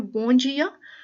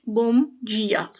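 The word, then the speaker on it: bom dia: कुछ कहते हैं बोंजिया और कुछ बोम जिया।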